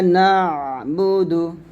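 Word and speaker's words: نعبد: সাথে আপনারা বলেন ইয়াকা ওয়া ইয়াকা নাসতাাইন ইয়াকা নাবুদু আইনটা গলার মাঝখানে নিয়ে আসতে হবে নাুদু ইয়াকা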